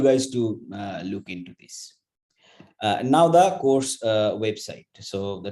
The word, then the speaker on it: Ng: fantastic tips by Andrew Ng. I'm not going to tell what it is there. So this talk, again, I mean, it's not Andrew Ng, it's Andrew N, the pronunciation.